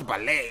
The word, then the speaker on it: ballet: like ballet but it's it's spelled ballet I don't know why why is that so the T silent T silent yeah so how does your